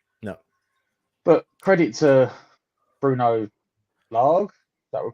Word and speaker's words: Lage: But credit to Bruno Lage, is that we're pronouncing it?